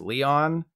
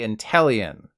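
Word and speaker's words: Inteleon: Leon in it and it's not pronounced Leon regardless think chameleon whenever you go to say intellion and whenever you go to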